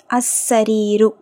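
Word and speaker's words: السرير: தண்ணீர் the water next அசரிீரு அசரிீரு லாம் உச்சரிக்கப்படல ஏன் சீன்ங்கிறது ஷம்சியாவுடைய எழுத்து சரிங்களா அசரிரு த காட் அந்த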